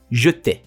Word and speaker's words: jeter: Next one, it is not jeter, it's actually jeter. We do not pronounce the final letter, so we do not pronounce R. We say jeter.